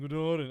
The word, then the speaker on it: Katahdin: How do you pronounce that? Katahdin? Katahdin. You're way off. Whoa, Katahdin.